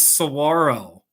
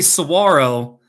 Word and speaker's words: saguaro: So it'd be no, like when you say saguaro, if you just take the O and you make it an ITA, it'll be Sahuarita, you know?